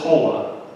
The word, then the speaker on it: Paula: Now it says Paula, but remember Spanish, you pronounce each vowel, so it's Paula.